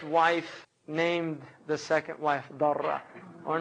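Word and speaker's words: ضرة: Now, obviously, the word in Arabic for second wife is darra, sometimes mispronounced durra, but it's actually a darra.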